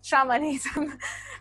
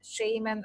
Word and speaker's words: shamanism: going to be on shamanism and yes I'm pronouncing it shamanism because normally scholars say shaman and shamanism rather than Shaymin or shamanism because shamanism with this pronunciation is